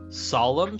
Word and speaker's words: solemn: Solemn, silent N.